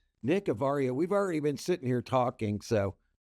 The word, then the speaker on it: Avaria: Is it pronounced Avaria or Avaria? You nailed it. First All try. right. Nick Avaria, we've already been sitting here talking, so I